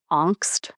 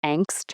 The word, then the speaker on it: Angst: What we're talking about is something that, you know, the German philosophers would call Angst or Angst in English, the pronunciation, and so that is